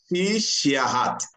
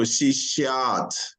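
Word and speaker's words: शिष्यात्: Whenever you see a dash on any vowel, that vowel is being stressed, means that you pronounce it long. It's a long, means that the vowel has to be long.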